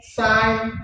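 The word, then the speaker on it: sign: আরেকটা হল জি এন নিলেও শুধুমাত্র এন এর সাউন্ড করবে। এখানে জি এর কোন সাউন্ড হবে না। যেমন নো সাইন ডিজাইন ডিজাইন foreign এইযে এগুলাতে শুধুমাত্র কি নাই?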